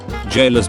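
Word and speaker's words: gaol: the erd tree okay was anybody going to tell me that jayla's pronounced the same as jail or was i just supposed to learn that from the loathsome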